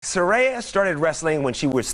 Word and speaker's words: Saraya: It's Saraya. Saraya, like a ray of sunshine.